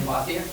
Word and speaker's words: Pothier: sorry, Pothier? Yep. Oh, I was right. Yeah, you were right, you said it right. You said French first, I've heard it all different ways.